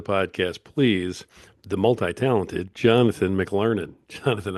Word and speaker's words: McLernon: And it's basically phonetic, right?